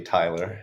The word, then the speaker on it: Tylor: curious myself and please Taylor go ahead if you want to do any introduction or take it from here sure um I know it's spelled a little weird but my name is actually Tyler Tyler sorry all good